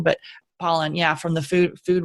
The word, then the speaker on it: Pollan: kind of by that Michael Pollan it's Apollinaire Poland I was gonna say his name wrong but Pollan yeah from the food Food Rules you know